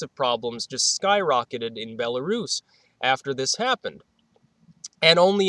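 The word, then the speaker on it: Belarus: chart from Bolis now bellarus I think it's pronounced uh which is not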